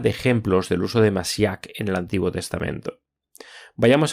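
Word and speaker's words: משיח: Daniel 9 en hebreo la palabra es masíac tenga en cuenta el énfasis en la segunda sílaba y se usa mucho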